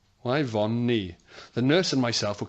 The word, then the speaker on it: Yvonne: She then spelled out the name Yvonne, which is spelled Y von Nee. Yeah. Neither the nurse or myself could tell her that the name she loved was pronounced Yvonne. Pronounced very differently.